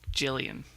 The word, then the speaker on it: Gillian: Yeah, I'm pretty sure it is Gillian Anderson. But it's Jillian.